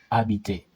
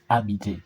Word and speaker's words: habiter: Okay, we have the verb habiter. The h is silent. All h's in French are silent. Habiter means to stay.